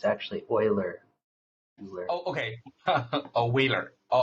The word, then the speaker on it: Euler: It's actually Euler. Oh, okay. Oh, Wheeler. Oh, all right, good. Yeah. Euler, like oil used for cars. Euler.